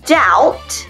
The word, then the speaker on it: doubt: Allez, on le fait ensemble et on oublie les B. On ne les prononce pas. I doubt your debt with the plumber will climb.